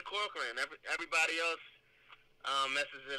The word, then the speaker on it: Corcoran: right off the bat embarrassing but am i pronouncing this right corcoran that's right all right yeah thank you man i'm glad i'm glad you i'm glad you said corcoran everybody else uh messes it up man so